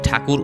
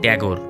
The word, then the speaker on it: ঠাকুর: আর ইংরেজরা এই ঠাকুর উচ্চারণ করতে পারতেন না, তারা এর উচ্চারণ করতেন ট্যাগর, তাই ইংরেজরা তাকে ডাকতেন রবীন্দ্রনাথ ট্যাগর।